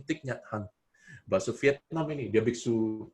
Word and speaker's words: Thich Nhat Hanh: Gimana sih bacanya? Thich Nhat Hanh.